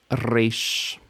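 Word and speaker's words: רגל: re re Ro R here's some words with regel did you get the initial stress regel means foot or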